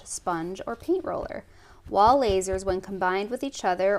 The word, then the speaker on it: Lasur: Okay, she's saying lasers. It's spelled Lasur.